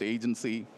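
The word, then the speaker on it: AGNTCY: As you can see here, spelled slightly differently, pronounced agency, with the vision to build this open, interoperable Internet of Agents.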